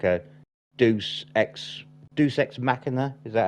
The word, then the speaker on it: deus ex machina: entire third act into like a deus ex deus ex machina. Is that how I'm meant to pronounce it?